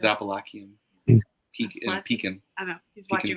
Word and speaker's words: Appalachian: It's how you pronounce it based on what state you're from. Appalachian. Or your dad says Appalachia. Or Appalachian. He says Appalachian.